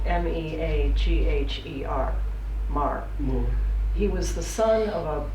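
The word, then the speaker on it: Meagher: on the immigration his name is Thomas is pronounced Mar spelled m-e-a-g-h-e-r Mar he was the son of an Irish Parliament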